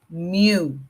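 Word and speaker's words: μ: values this is Mu you're going to pronounce it as Mew okay like a cat Mew me there so me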